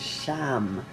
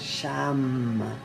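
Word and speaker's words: शं: The one syllable Sanskrit mantra that goes with this one is Sham, with an SH, Sham.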